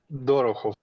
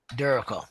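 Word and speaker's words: Dorohov: v okay and spell and how is that pronounced dorov Duro okay all righty uh well M uh dur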